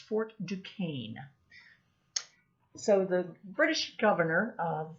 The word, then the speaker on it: Fort Duquesne: and the main one is one it's actually pronounced fort duquesne so the british governor of virginia uh he